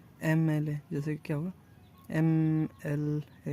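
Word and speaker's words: MLA: हां एमएलए है इसको हम लोग कैसे कैसे प्रोनाउंस करते हैं हम लोग इसको बोलते हैं एमएलए जैसे क्या होगा एम एल एम एल एम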